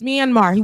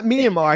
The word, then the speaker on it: Myanmar: When I see any hats, pickup trucks, you know, people that are the man can't even pronounce Myanmar. What did he say? Minimum.